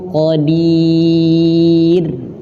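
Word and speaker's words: قدير: Syai'in qadir. Qadir. Di sini ada huruf ro dan ro-nya dalam keadaan tipis. Nah, di sini teman-teman, kebanyakan dari kita bacanya ro-nya tebal, harusnya tipis. Qadir, bukan qadir.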